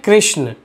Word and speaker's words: कृष्ण: तो आजकल क्या होता है कि जैसे हम इंडियन इसी स्पेलिंग को कृष्ण बोलते हैं, लेकिन फॉरेनर लोग कृष्ण ना बोल के कृष्णा बोलता है, इसलिए हम लोग क्या करते हैं, बहुत बार कृष्णा कृष्णा कृष्णा भी बोलने लगते हैं।